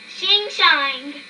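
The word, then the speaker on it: Hsing-Hsing: Hi-sing, a male, whose name is pronounced Shing-Shang, soon became friends in their new home.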